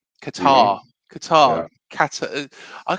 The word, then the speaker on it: Qatar: Kata, you know Qatar. Yeah. Sorry for anybody in Qatar who is watching um and yeah is offended by me saying it wrong.